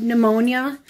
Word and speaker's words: pneumonia: and then you have pneumonia pond ammonia there's a pee in front of that - what's with silent